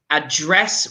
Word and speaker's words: address: And it's address with a j, not a d.